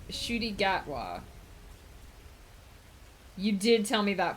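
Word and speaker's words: Ncuti Gatwa: pronounced shooty gatwa.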